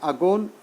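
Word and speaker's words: again: तो देखिए यहाँ अगोन, यदि हम बात करें राइमिंग वर्ड्स की, अगोन और डॉन, इसी तरह से रिफ्रेन और रेन, तो ये अगोन डॉन से और रिफ्रेन रेन से, इनकी तरह प्रोनाउंसिएशन सेम है, तो इनको हम क्या कहते हैं, राइमिंग वर्ड्स कहते हैं। तो अगोन rhyme with don, अगोन rhyme with don, refrain rhyme with रेन।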